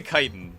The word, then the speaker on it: chitin: Chitin is pronounced chitin officially.